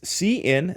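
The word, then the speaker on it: cin: here c in hours so it's c in that's how that's pronounced hours this is going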